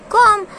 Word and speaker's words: comb: Comb. So what is the spelling of comb? COMB. B is silent. We are not speaking B. We are not making sound of B, right?